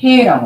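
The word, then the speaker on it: ה: 자 요렇게 요렇게 요게 요게 해라고 합니다.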